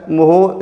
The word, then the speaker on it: mho: हो जाता है MHO, इसको मोहो पढ़ते हैं। तो ये साइमन भी बोलते हैं या फिर मोहो बोलते हैं। तो कंडक्टेंस का SI यूनिट हो गया मोहो या साइमन, और इसी